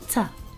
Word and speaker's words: to: Then the O sound in to is pronounced with a schwa, so it sounds like ta.